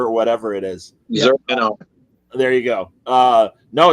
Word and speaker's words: Zur: And really, and I never know how to say the name of the demon or the alien that's possessing Batman, Zur or whatever it is. Zur, There you go.